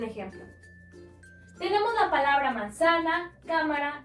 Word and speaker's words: cámara: Cámara. Si estuviera aquí la sílaba tónica, sonara cámara. Si está aquí, sonara cámara. Aquí, cámara. Por lo tanto, la sílaba tónica se encuentra en K y el resto de ellas serán átonas.